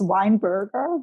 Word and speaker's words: Weinberger: the difference um well it's a w it's it's weinberger but um but i i